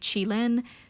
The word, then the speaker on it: Qilin: Jinafire was originally supposed to have a pet that would be named Qilin, spelled like Q-I-L-I-N.